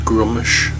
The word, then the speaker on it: Gruumsh: dark cleric of grommish still not right here with its grummish or groups I've heard it pronounced both ways but um I think the majority of people I know pronounce it grummish so I will continue to do so so let's see what